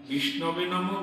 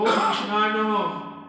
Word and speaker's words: বিষ্ণবে: যারা মূর্খ তারা তো শুদ্ধ উচ্চারণ করতে পারে না, বিষ্ণবে নমঃ বলতে না বলে বিষ্ণায় নমঃ, ও বিষ্ণায় নমঃ, এটা তো শুদ্ধ না, অশুদ্ধ।